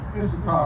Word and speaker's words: Issachar: How do you pronounce it? Issachar.